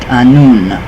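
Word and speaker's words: Annwn: In Irish, it was also known as Aes-Side, and in Welsh folklore, Anfuin or Anwin, pronounced Anun. So Anun, we all know that one.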